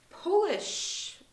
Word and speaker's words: polish: any difference very small differences okay next one polish or Polish Polish well the first one will'll